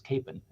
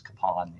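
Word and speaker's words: Kapaun: We still, for the longest time, we thought it was Capon, but we learned that the actual pronunciation of the name is Kapan.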